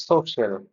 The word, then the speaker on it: social: It's social. social social this is the correct pronunciation D so if you're listening work on